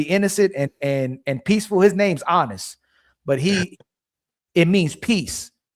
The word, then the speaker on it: Aanis: His name's Honest, but it means peace. It's spelled Aanis, right?